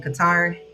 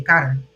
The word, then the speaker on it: Qatar: I'm trying to learn how they say it out here because I always said Qatar and apparently out here they say Carter. I think that's how you say it.